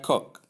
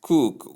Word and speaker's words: coke: I've heard people refer to this word as cook with careless abandon. Nobody cares whether it's correctly pronounced or it's wrongly pronounced. In fact, to most people, once they see O in a word, it automatically turns into the long ooh sound.